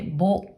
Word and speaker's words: 母: 音読みでぼ、ぼ。